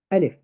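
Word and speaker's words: ألف: Alif, you pronounce Alif. You don't say La, Mi. No, you say Alif, Lam, Mim, the whole name.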